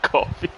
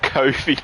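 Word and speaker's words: Coffey: so that's how you that is how you actually pronounce his last name coffee and not Kofi like in Kofi kingst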